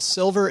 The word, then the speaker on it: Silvur: It's called Silver. It's spelled S I L V U R.